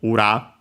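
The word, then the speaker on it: 裏: fundamental meaning technically of ura uh accent on the last mor by the way uh means opposite side uh in various senses.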